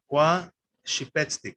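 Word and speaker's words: kwaxipetstik: Kwa shipetstik. Again, the stress is on the second to last vowel.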